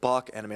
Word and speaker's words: Bak Anime: I'm pronouncing it correctly, Bake Anime. Bake Anime. Although the anime community, they pronounce it Bach Anime, like we're from Bakersfield. They're trying to make it sound fancier than it really is.